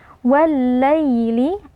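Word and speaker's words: وَاللَّيْلِ: Ya alif lam pertama ditasydidkan atau dileburkan ke dalam lam yang kedua. Wal-laili, ya sukun sebelumnya berharakat kasroh, ini merupakan bacaan lin. Cara membacanya ya-nya dibaca dengan lunak.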